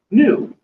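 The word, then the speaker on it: ν: seconds for us now this symbol which looks like a V is not a v it's a Greek letter as well this is new and new when I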